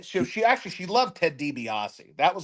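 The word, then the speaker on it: Ted DiBiase: she actually she loved Ted debiasi that was like her OG favorite wrestler was the Million dooll Man Ted dbios she couldn't say his name right she called him Ted debos she couldn't get his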